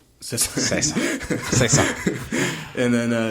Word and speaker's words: Caesar: It's pronounced Cesar. Cesar Cesar Cesar.